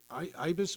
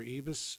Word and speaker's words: Ibis: So Ibis, or Ibis, depends on the pronunciation.